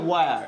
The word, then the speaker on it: where: হেয়ারের উচ্চারণটা কি হবে?